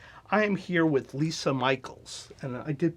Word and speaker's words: Micheels: Tracy Meisner and I am here with Lisa Michaels and I did pronounce that correctly all right from Brown creative